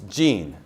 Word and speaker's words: Jean: to laugh Jean right jean jean jean it's Gene Gene the man from probably